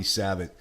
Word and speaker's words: Savitt: I was Savitt. But the on Facebook page is at Hey Savitt. 2 T's at the end. The first T is silent.